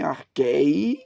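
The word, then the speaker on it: ἀρχῇ: reverberou no Brasil, é começaram a dizer que tem que pronunciar esse iota subscrito. Então, por isso que eu estou colocando aqui, em arkhé, em arkhé, Onde estiver o acento, você vai ter a sílaba tônica.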